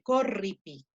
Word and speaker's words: corripi: Claro, se pronuncia junto el sonido fuerte, corripi, se pronuncia junto, pero la división silábica separa esas dos consonantes.